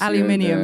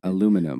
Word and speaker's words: aluminium: you guys say yeah differently but I guess aluminium is the biggest one uh what aluminium aluminium aluminum we actually spell it differently though we have another we have